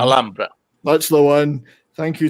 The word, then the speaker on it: Alhambra: Memories of the Alhambra, which I can never pronounce. Alhambra.